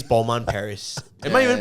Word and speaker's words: Balmain: Like, who needs a Balmain t-shirt that says Balmain Paris? Am I even pronouncing it right?